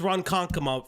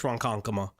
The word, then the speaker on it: Ronkonkoma: Also, it's Ronkonkoma, by the way. Not as someone that's from over here, it's Ronkonkoma. Really hard to pronounce anyways.